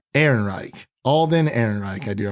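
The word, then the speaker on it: Ehrenreich: last name Devin do you know how to pronounce alden's last name Aaron Reich Aaron Reich Alden Aaron Reich I do apologize I didn't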